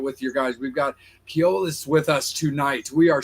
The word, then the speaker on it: Koilos: So the proper way to say the name or the band name is Koilos.